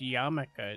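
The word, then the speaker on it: yarmulke: that was it and that's pronounced yamaka it's a Jewish hat oh I've never actually seen it written have I neither have I I always thought there would be like a k at the end uh I'm sorry I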